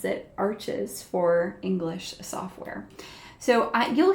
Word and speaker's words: Arches: I'm using the, I'm saying arches. It is French. Someone commented and said, it's French, you don't pronounce the R or the S correct.